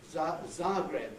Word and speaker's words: Zagreb: They'll do it with something like Zagreb, for instance, which is pronounced locally with a stress on the first syllable.